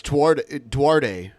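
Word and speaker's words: Duterte: It's Duarte. Yeah. Is his name. It's pronounced Filipinas, Ben.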